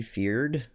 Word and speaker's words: Fyrd: In the, like in England, for example, the common people who were drafted up were called the Fyrd, right? F-Y-R-D, feared, I think is the actual correct pronunciation.